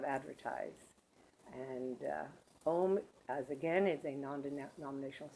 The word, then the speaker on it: Om: The actual breakdown of Om is A-U-M, Aum, and the M is actually done with an sound, but that's all right.